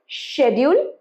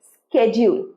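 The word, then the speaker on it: schedule: এই ওয়ার্ডটা হচ্ছে শেডিউল, এটাকে ইংল্যান্ডে বলে শেডিউল, আমেরিকাতে এই ওয়ার্ডটাকেই বলবে স্কেডিউল। আরেকবার, শেডিউল, স্কেডিউল।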